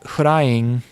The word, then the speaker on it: Hulaing: Okay, because I was like Hulaing, and then they start saying it, and you're like, oh, Hulaing is pronounced Huraing, which is the same pronunciation as flying. Yes. In Japanese.